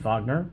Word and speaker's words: Wagner: a walk with his sidekick wagner spelled wagner pronounced fagner they're followed home by this strange poodle this